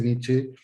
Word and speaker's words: Nietzsche: mira directamente, Friedrich Nietzsche, o sea, así se pronuncia el nombre realmente de Nietzsche, pero no me van a escuchar diciendo Nietzsche todo el rato. Ya ustedes saben que se pronuncia Nietzsche, con eso basta, ¿no?